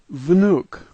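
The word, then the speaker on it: внук: We begin with a V sound, then an N sound. What looks like a Y is a U sound, and K sounds like K. This word is vnuk.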